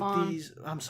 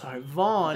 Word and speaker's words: Van: So Van, he works with Vaughn. Vaughn. It's spelled Van.